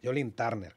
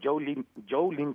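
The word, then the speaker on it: Joe Lynn Turner: ¿Pero cómo se llama realmente? Turner. Ah, Joe. Joe, es Joe. Joe, y luego, ¿cómo es? ¿Lee o Lin? Lin. O sea, es Joe Lin Turner.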